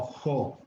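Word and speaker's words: ὁ: que llevar un espíritu, tiene un espíritu al revés, un espíritu rudo. Y entonces suena como una H aspirada, o como en inglés help o hope. Y entonces ya no pronunciamos O, sino Jo.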